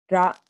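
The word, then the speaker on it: ら: So to pronounce it, really, I say it almost like ra, la, la, la, la. Like if I were to say la, la, la, la, it's very similar to L, more than ah.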